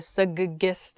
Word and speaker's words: suggest: So there's a G sound, G, and then it's followed by a J sound, suggest, G, J.